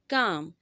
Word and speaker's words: calm: Calm. इसमें L silent होगा, आप इस तरह पढ़ेंगे calm, not showing emotions.